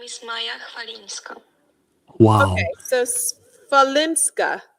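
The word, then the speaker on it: Chwalińska: It's almost an F. It's an F. Maya Falinska. So like Swiatek is Yeah. the SW is a V Yeah. pronunciation. So CH is an F. CHW is an F. Probably an F.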